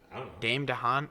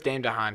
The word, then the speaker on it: Dane DeHaan: like Daymond Don wait how do you pronounce his name Dame de Haan I'm pretty sure I'm probably butchering it it some pretty sure it's Dane DeHaan he plays an amazing